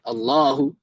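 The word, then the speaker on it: الله: Kemudian lafaz Allahu Ak dapat kita di Allahu gak ada alifnya setelah lam ya kan. Lam lam ha langsung ya. Seharusnya kan lafaz ada alif ya Allahu. Yaah. ee tapi gak ada kita dapati dalam penulisan ada alifnya ya.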